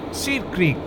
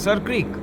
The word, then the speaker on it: Sir Creek: This water channel had joint ownership on both sides, that is Seer Creek, or now over the years pronounced as Sir Creek.